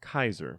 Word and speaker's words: Caesar: into the vocabulary and since there is no Soft C Sound in Latin Caesar is pronounced Kaiser and if it's one